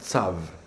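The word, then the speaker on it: צב: Et là, il y a un mot que l'on prononce Tsav, mais c'est la fin, c'est un Bet. Et Tsav, c'est la tortue. Je répète, Tsav, c'est la tortue en hébreu.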